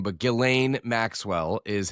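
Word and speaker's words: Ghislaine: subpoena I always screw up her name, but Gileain Maxwell is how you pronounce it.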